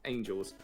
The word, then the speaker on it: Angels: I always call you Angles, but it's Angels.